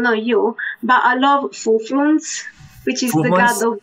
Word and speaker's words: Fufluns: I don't know you, but I love Fufluns, which is the god of wine. God of wine? So much like money. That. How do you spell that one? F-U-F-L-U-N-S.